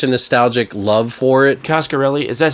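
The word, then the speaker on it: Coscarelli: I have such a nostalgic love for it costarelli is that how you pronounce his name yeah Don costarelli did he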